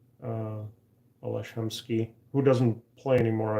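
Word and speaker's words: Aleš: my first name is Ales. And in Vancouver, nobody knew how to pronounce my name. It's spelled Ales, but then there's an accent on the S to make it a sh.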